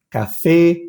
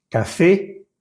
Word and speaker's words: café: Café, marché, été. Esa última E acentuada tiene que sonar.